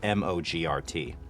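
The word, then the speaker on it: mogrt: as templates inside of Premiere so it's dot mo GRT and it does rhyme with you over so what do you think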